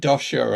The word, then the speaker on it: Doscher: ask you about yours because i i said dosha and i don't know whether you said it